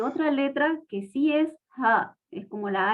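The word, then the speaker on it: حاء: La ja es como una H en inglés, porque nosotros en español la H no la pronunciamos, pero en inglés sí se pronuncia. Entonces es como la H en inglés, pero más fuerte, más grave. Se la tiene que pronunciar desde la base de la garganta.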